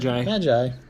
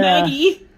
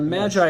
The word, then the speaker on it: Magi: Magi. Dude, you pronounced it right in the title of the game. Yeah. Maggie!